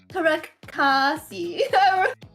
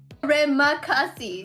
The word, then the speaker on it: Terima kasih: So I just want to say salamat, and how do you say it? Was Tarekasi. What was it? Terima kasih. There you go.